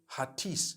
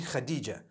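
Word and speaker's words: Hatice: I would say Hatis for that. No, it's actually Khadija. In Turkish, that's the way they write it.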